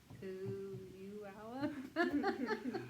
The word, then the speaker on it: Puyallup: Puyullap? Something like that. Something like that. Puyallup. I Anyway, said Puyallup. That's how I said maybe it was Puyallup. Puyallup. Puyallup. Hey, P. Puyallup.